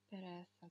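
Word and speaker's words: pereza: Переса, да? Переса. Так, переса. Я уже сказала, что вот эта вот буква, английская Z, да, она не будет читаться как Z, она читается как S.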